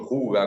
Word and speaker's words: hygge: muy en relevancia, como este de Hygge, o Huga, como se pronuncia en danés.